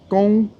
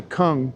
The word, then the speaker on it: kung: don't like me to cook but Mike it's pronounced Kong like high tone Fu but of course in English we just say Kung cuz cuz um I guess it's Wade GS